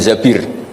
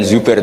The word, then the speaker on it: Zabir: nikah sama Abdurrahman bin Zabir. Di hadis ini bukan bacanya bukan Zubair tapi Zabir, Abdurrahman bin Zabir.